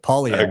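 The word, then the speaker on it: Poilievre: whether it's like Milei in Argentina, obviously, but Pierre Polivier, I can't pronounce his last name, but Ben, you'd know much more about Pretty good, actually. Pierre in Canada. One of the best pronunciations I've heard. Polyev.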